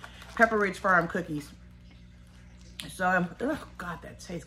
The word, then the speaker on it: Pepperidge: Pepperidge Farm. I keep saying it wrong. Pepperidge Farm cookies.